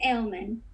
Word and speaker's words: Aleman: Now, do you pronounce it Aleman or Aleman? It's Aleman.